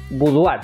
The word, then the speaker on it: boudoir: A ver, Francés Morán me dice que en francés se lee boudoir.